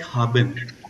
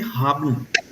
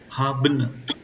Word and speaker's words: haben: is not spoken like haben. It is only haben. Haben. You can say haben. Haben. That is, this E is like only 20% of this E is pronounced.